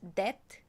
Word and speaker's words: debt: Don't think you pronounce B in depth. So it's debt?